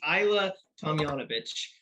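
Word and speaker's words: Ajla Tomljanović: It's Ajla Tomljanovic. The J's were a little bit tricky.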